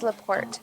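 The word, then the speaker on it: La Porte: or is it Lort Alexa how do you pronounce l a space p o r t e comma Indiana it's leaport yep thank you Alexa stop well it's leaport Indiana cool okay whoops okay okay all right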